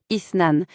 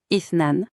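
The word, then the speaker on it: اثنان: C'est assez distinctif, ça se prononce ithnan. Faites attention au début du mot, c'est un son très doux, presque comme un souffle. On le redit, ithnan.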